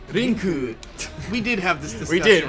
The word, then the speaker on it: Link: Oh, you're pronouncing Link wrong. It's Rinku.